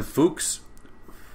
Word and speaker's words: Fux: Rameau will be the first one, then Fuchs, F-U-X is how it's spelled, and then C.P.E Bach.